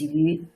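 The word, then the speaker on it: 鱼: And fish is this yu. They share the same pronunciation.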